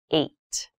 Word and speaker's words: eight: is the number h this has an interesting spelling it's pronounced eight eight is a lucky